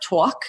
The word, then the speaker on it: Tawk: One thing we added more recently was a talk to live chat. It's spelled TAWK, somewhat like talk, which the Americans should appreciate especially.